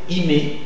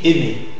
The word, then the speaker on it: aimer: aimer aimer hein alors c'est comme si si tu avais l'intention de dire imé imé mais tu dis aimer aimer aimer aimer voilà